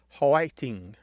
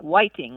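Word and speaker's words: 화이팅: it might be like hating or pting like that yes and sometimes it sounds like Whiting like with a W almost yeah yeah yeah kind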